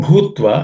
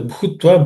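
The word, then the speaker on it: भूत्वा: Samo bhutva, again the bhutva, the bhu is again aspirated.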